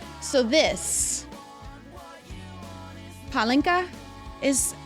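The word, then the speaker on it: pálinka: A mini bottle of So this palinka is how it is pronounced. I was calling it pelinka, which I thought was really funny.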